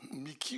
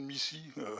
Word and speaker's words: MICI: Mickey au lieu de Missy? Ça, c'est vraiment une question curieuse, disons. Parce que Mickey, alors Ah, c'est suivant le bon vouloir de chacun. Il n'y a pas de discrimination sur le terme.